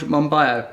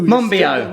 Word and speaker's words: Monbiot: I'm here with George Monbiot. Have I said it right? No. Monbiot.